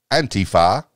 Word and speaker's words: Antifa: Antifa, pronounced Antifa by some, Antifa by others.